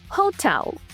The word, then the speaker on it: hotel: Не, наголос на другий склад. Так само, як і в українській. Готель. Hotel.